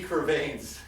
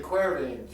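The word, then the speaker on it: De Quervain's: Brad, today we're going to talk about, I say Quervains. It's really the Quervains.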